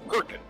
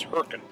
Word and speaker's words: Hurricane: Yeah, and just to clarify, it's Hurricane. I think it's almost like one syllable in Utah. It's Hurricane.